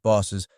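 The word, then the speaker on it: BOUS: for the Boost team the Bureau of unusual statistics typically pronounced bosses was a unique feature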